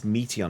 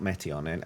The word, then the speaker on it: Meteon: It's Meteon, not Meteon. I need to say it right.